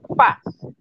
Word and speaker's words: pas: Y después entonces le agregamos el pa. Le estoy pronunciando mal. Es pa. La S no se pronuncia.